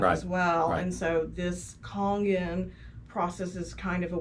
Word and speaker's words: Kangen: And by the way, sometimes it's pronounced Kangen, sometimes it's pronounced Kangen. I think that the Japanese actually pronounce it Kangen. Okay. So I think that's the correct way, from my understanding.